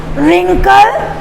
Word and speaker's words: wrinkle: W is silent here.